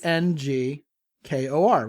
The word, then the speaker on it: Angkor: Angkor, like Angkor Wat.